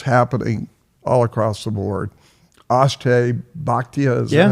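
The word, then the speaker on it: Akshay Bhatia: Ashtay Bhatia, is that how you say his name?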